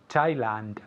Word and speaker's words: Thailand: to Thailand very Thailand Thailand there's a d at the end Thailand I went to